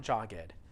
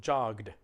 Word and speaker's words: jogged: just little d sound the word looks like jogged but it's not jogged it's not an extra syllable it's just one syllable because the word ends with a sound all right so jogged all right let's try